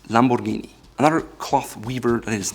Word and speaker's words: Lamborghini: It's not Lamborghini or Lamborghini, it's Lamborghini.